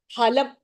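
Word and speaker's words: फलम्: In Hindi, we say Phalam, right? We use the F pronunciation. Here, it is just Phalam. It is not Phalam.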